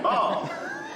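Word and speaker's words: Baum: And Bomb, that's spelled B-A-U-M. It's German. But I go by Tan, works great here at the farm.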